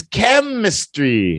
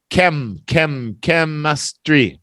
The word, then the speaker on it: chemistry: first this one is chemistry now remember that H is silent just like mechanic chemistry chemistry Jason chemistry chemistry